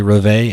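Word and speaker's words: Reveille: It is apparently Reve, and that is like the bugle call that they have in the morning for the military to get everybody up.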